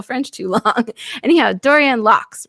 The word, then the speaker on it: Laux: Anyhow, Dorianne Laux, right? Like, that's good enough? Laux? Yes, it's absolutely right. I mean, it is French name. How do you say it? We say, my family says Laux. Oh, Laux.